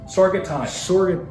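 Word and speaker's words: Sorghaghtani: Sorgatani.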